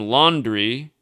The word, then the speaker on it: Laundrie: found on sunday again his surname laundry which is a french word that's where it comes from originally and that's not i know that's not the normal spelling we use but that's how he pronounces his name right in the video